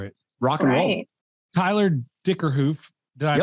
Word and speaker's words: Dickerhoof: Tyler Dickerhoof. Did I pronounce that right?